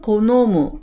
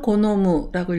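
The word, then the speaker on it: 好む: 음독은 고노무, 스크라고 읽습니다. 무가 나오면 고노무라고 읽어서 좋아하다, 즐기다 라고 나타내고요.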